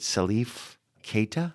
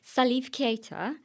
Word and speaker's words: Salif Keita: Is it Salif Keita? Uh yeah, no, you said it right. So, Salif Keita.